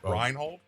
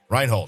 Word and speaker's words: Reinhold: rold Wendy kusen who judge Reynold all right reinold I said reinold Reinhold shut up rein reinold I said I said